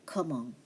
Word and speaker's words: comment: It has to be tu t'appelles comment? Comment tu t'appelles? Comment t'appelles-tu? Okay, right. ENT is pronounced as on.